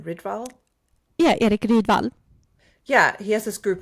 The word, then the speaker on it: Rydvall: Yeah, Erik Rydvall.